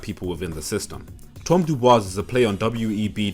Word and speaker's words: Dubois: His hatred of self was a lot more subtle than Ruckus, but it's small things like the fact that Dubois is given a French pronunciation, or his obsession with his Eurocentric heritage.